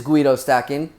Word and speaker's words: GuidoSStackin: I figured I'd throw my name in there since lately people have been mispronouncing it like crazy. It is GuidoSStackin, so welcome.